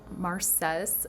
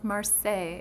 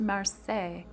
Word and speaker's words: Marseille: I always love it when I'm watching people's videos and they call it like Marces or something or they say like Marcels or I don't know, but it's Marseille. It's pronounced Marseille.